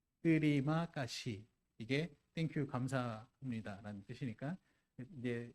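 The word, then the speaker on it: terima kasih: 뜨리마 까시라는 뜻이에요. 이게 감사합니다는 뜻입니다. 알파벳으로 되어 있고요. 인도네시아고요. 발음 나는 대로 읽어요. 뜨리마 까시 이게 땡큐 감사합니다라는 뜻이니까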